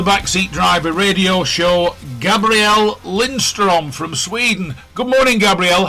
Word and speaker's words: Gabriel Lindström: I'd like to welcome to the Back Seat Driver Radio Show, Gabrielle Lindstrom from Sweden. Good morning, Gabrielle. Have I pronounced your name correctly?